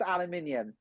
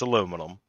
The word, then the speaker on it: aluminium: tomato it's tomato and it's aluminium it's aluminum no it's not it's aluminium do you know why it's aluminum because it was a typo by a goddamn scientist so it's illuminated what